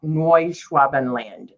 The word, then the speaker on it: Neuschwabenland: Neuschwabenland is how you pronounce it.